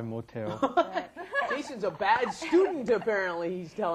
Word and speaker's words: 못해요: Now, notice that pronunciation may sound a little strange. You've got 못, which has an S at the bottom, followed by the H, 하다. Why does it come out te?